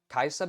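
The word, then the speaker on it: Kai'Sa: We got a Kaisa ban. Is that how you pronounce that? Yeah, Kaisa.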